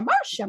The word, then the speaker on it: Marcia: And you just said it's like the Brady Bunch. And of course, in my head, and it's been stuck there now for days, is Marcia, Marcia, Marcia.